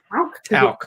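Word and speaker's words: Tauck: Is it talc or tauk? I would just Tauk. The German way.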